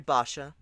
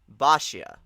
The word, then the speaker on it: Basia: didn't just call me basa is that how you pronounce it bashia okay so three syllables already looking for a